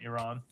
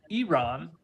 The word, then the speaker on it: Iran: first thing is uh it is pronounced Iran not Iran correct George